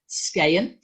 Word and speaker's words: Skagen: Group, by the way, in Danish, you shouldn't pronounce the G, and you might recognize it as the brand of a watch as well, Skagen.